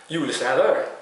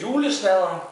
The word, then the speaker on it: Julesnadder: Julesnadder. I think that's how you say it in kind of a Norwegian accent.